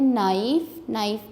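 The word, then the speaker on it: knife: नो में के silent है, इसको अंडरलाइन करें। नाइफ में के।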